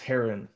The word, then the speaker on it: Heron: hold on real quick his last name is pronounced heron like like the bird well i always say herron do you do it